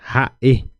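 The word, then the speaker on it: ha'e: ahora tenemos Ja e Ja e Ja e no van a confundir con ha Cuando tenemos esta apóstrofe en guaraní lo llamamos de puso que es también hace parte como si fuera una consonante entonces puso traducción de puso es sonido cortado corte de sonido corte de sonido Okay entonces por esos por eso decimos puso entonces por eso se corta el sonido de la palabra sería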